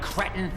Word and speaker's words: cretin: Where is it, you little one-eyed cretin? Okay, first of all, it's Cretin.